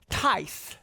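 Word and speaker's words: Thais: this is a lady her name is Tice that's her name that's how it's spelled t-h-a-i-s you see that that's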